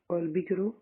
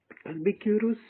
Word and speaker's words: Albuquerque: Albukiro capture Goa from Bijapur Sultanate. Sorry for mispronunciation of this word. Albuquerque capture Goa from the ruler of Bijapur.